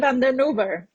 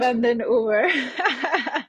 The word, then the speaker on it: Karen van den Oever: van den Oever. Thank I you. will pronounce it for you. Thank you very Karen much. van den Oever.